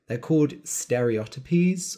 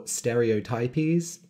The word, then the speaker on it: stereotypies: These are called stereotypies or stereotypies, depending on the pronunciation, or tics.